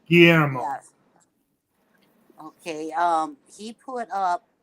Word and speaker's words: Guillermo: Yeah, it's Guillermo.